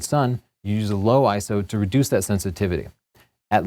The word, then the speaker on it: ISO: your pictures is is ISO it's it is pronounced ISO it's not ISO and if you uh want more information about